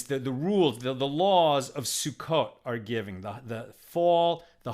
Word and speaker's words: Sukkot: This is where the requirements, the rules, the laws of Sukkot are given, the fall, the harvest holiday of Sukkot, right? Or Sukkot in more Ashkenaz pronunciation.